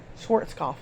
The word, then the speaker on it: Schwarzkopf: It was started by Paul Newman and General Schwarzkopf, whatever, how do you pronounce the name? Schwarz? Oh my gosh. I can't say that word. Schwarzkopf. There you go.